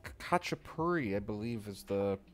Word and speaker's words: khachapuri: we're making a georgian cheese bread it's called kacha puri i believe is the pronunciation um but basically it's just gonna feature